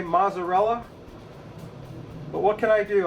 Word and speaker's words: mozzarella: Of course, we're going to put mozzarella cheese on it. And I want you to notice my pronunciation of mozzarella. I say it correctly. I hate it when you gringos say mozzarella.